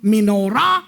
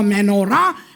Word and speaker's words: menorah: It doesn't matter how you pronounce it, menorah or menorah.